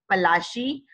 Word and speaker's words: Palashi: And the pronunciation actually was Palashi, and the place name derived its name from the Palash tree, known for its beautiful red flowers that yield gulal.